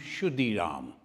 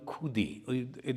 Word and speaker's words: Khudiram: In the Sanskrit, if you pronounce Shudiram, in Bengali, Khudi, they pronounce in that way.